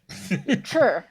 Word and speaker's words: Chih: Chur.